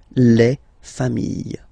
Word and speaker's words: familles: Famille, singular form, famille, plural form, same pronunciation, S not pronounced.